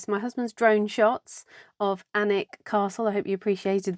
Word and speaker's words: Alnwick: We are popping away for 2 days to the Northumbrian coast, up to, now it's spelt A-L-N, Alnwick, but I think it's pronounced Alnwick.